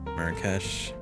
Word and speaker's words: Marrakesh: Marrakesh. Pronunciation.